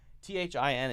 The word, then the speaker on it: thin: T-H-I-N and T-H-I-N-G. Remember this, that, thin. Bring the tongue, the front of the tongue forward to the front of the mouth, and that's T-H-I-N.